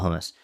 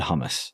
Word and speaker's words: hummus: Well, there's differences whether you're, you have an Arabic pronunciation or you have a Hebrew pronunciation. And even within those pronunciations you'll get different, like from a more like Hebrew perspective, it's like hummus. It's like, aah, it's that like, hummus.